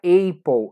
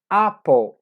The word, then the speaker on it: apple: quanto a fruta maçã eu vou pronunciar apple apple não é apple é apple existe alguns sotaques ou